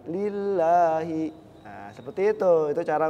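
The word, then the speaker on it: الله: Iya jadi gitu ya kalau lafaz Allah itu yang tebal dibacanya Allah alallahi kalau yang tipis Walillah bibirnya juga harus ditarik lillahi nah seperti itu itu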